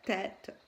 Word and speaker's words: tête: Et la tête, donc c'est un E, mais ce E, il a un accent, donc c'est pas E, il se prononce pas E, il se prononce tête.